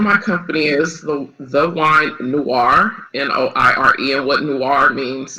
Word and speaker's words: Noire: Yes, the name of my company is the Wine Noire, Noire, and what Noire means is French.